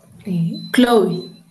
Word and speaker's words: Chloe: How do you even pronounce that name? It's Chloe? Chloe.